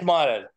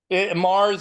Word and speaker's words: Mares: Do you pronounce it Mars or Maris? Scott, can't hear you. Okay. It's Mares. Mars or Mares, it works either way for me. I see. It's Spanish. Okay, very fine.